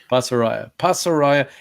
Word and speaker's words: Pasaraya: That's Pasaraya. Yeah. Did I say it right? Yep. Yes, you did. Pasaraya.